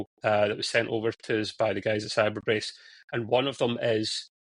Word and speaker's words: Cybrbrace: Cyberbrace, it's spelled CYBRBRACE.